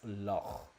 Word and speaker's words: loch: So Scottish people are saying you pronounce it lock, as in the word at the end of Stormloch. It's meant to be Stormloch, so it's loch. You don't pronounce the K.